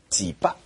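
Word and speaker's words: 箭牌: 这个箭牌在上海话的发音里呢是叫几巴啊。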